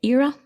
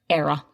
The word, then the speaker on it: era: Josie, can this word also be pronounced as era? It absolutely can. Some people pronounce it era and some era. There's no difference. Okay. It means the same either way.